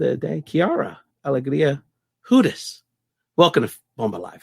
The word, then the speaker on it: Hudes: But then you got to pivot and you got to go into like an Eastern European pronunciation, which is Hudes. Hudes. You got to like roll it.